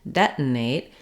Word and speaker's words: detonate: American English detonate detonate were using what's called an unreleased t for that first T so it is first syllable stress I do have the F vowel like dead or Red Dead detonate but you can hear how when I say detonate I don't say debt I don't let that